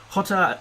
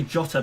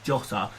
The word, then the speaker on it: Jota: about moving him on hotter or so i should say jotter because the portuguese pronunciation is jota jose as a replacement